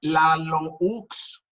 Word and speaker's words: Laloux: Se escribe Laloux, con X al final. Laloux. Se pronuncia Lalou. Es un investigador y es un consultor de origen belga. Frederick Laloux, con X al final.